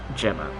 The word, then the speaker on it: Gemma: perfectly normal name okay Gemma soft G Gema okay we sear